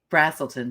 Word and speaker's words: Braselton: of Atlanta there it is it's very pretty Braselton Georgia by the way is how you pronounce that so A brazilton brazilton oh oh